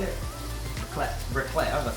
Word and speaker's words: raclette: Raclette.